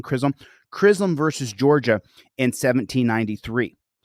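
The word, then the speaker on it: Chisholm: i h LM Krum John krism I think is how you say the last name krism krism versus Georgia in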